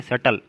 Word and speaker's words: subtle: अगला मीनिंग क्या है, सटल, SUBTLE, बी साइलेंट रहेगा, इसको क्या पढ़ेंगे, सटल।